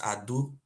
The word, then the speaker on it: Ado: The real pronunciation is Ado, A-D-O. Ado, just like we have Ado Ikiti.